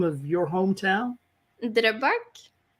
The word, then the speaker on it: Drøbak: Drøbak. Say that again. Drøbak.